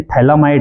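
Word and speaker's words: phthalimide: देखेंगे बच्चों तो ये थैला माइड है क्या है थैला माइड पी एच पी एच थैली माइड ठीक है यहां पे जो पीएच है वो साइलेंट रहेगा थैले माइड है ये पोटेशियम हाइड्रोक्साइड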